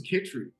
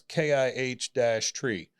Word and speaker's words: Chytry: name for us so my last name is kitri okay CCH last name okay and yeah I normally put the well we I I pulled something off the internet and it it says pronounce kih tree so but I didn't